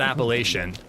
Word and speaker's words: Appalachian: Appalachin. I I I think people around me pronounce it Appalachian. I don't I don't think I'm wrong. I think it's just a different pronunciation here.